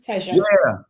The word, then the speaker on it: Teja: Am I pronouncing your name correctly, Teja?